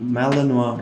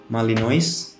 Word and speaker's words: Malinois: From where I'm from, Malinois is actually pronounced Malinois, and people usually kept calling them Malinois because it's easier to be pronounced than Malinois. So yeah, sometimes I do pronounce it Malinois because it's way more familiar here in Indonesia.